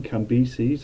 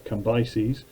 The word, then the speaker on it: Cambyses: He's then taken over by his son Cambyses, or Cambyses, whichever way you want to pronounce it.